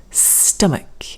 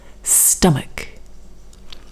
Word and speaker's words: stomach: weak sound muk and ch here is now a k sound muk stomach also the o over